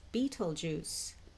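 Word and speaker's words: Betelgeuse: being spelled but or that's how it's spelled but it's pronounced as Beetle Juice so these are two of the brightest stars in the sky Riel and Beetle Juice and they are located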